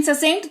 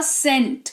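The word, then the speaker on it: scent: तो सी भी साइलेंट हो जाएगा। उदाहरण के तौर पर सेंट इसको सेकंड कभी पढ़ा है? एस सी ई एन टी जबकि सी का उच्चारण तो हमारा स होता है। राइट? लेकिन ससेंट तो नहीं पढ़ा हमने इसको। हमने इसको पढ़ा सेंट। क्या पढ़ा? सेंट जिसका मतलब होता है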